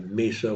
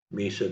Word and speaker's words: Mesa: near the town of Misa Washington Misa meaning um spelled the same but pronounced differently than um in Arizona they have they one